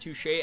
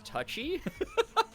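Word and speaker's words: touché: when I was young I pronounced touche as touchy you must have been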